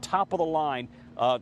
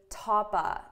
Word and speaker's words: top of the line: Now notice for pronunciation, I'm really saying topa, top of the line. I'm not pronouncing this as of.